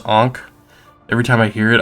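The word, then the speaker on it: ankh: hearing the word ank I know it's pronounced ank every time I hear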